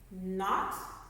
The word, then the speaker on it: knot: Okay, that K is silent, so this word is actually no. New. Knit, like you're knitting a sweater. Knot, like you tied a knot.